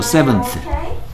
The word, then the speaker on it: seventh: 우리 TH 발음하기가 한국 사람들 좀 안 쓰던 소리이기 때문에 우리는 말할 때 안 쓰는 소리이기 때문에 좀 어색해. Seventh. 혀를 살짝 물고 쓰 하면 됩니다.